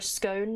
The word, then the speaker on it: scone: I pronounce it like cone, but with an S. Of course, you're a scone enjoyer.